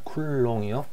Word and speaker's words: 쿨롱: 자, 얘는 전 시간에 배웠던 것과 같이, 자, 기호로는 Q로 나타내고 단위로는 C라고 적고 쿨롱이라고 읽습니다. 쿨롱이요.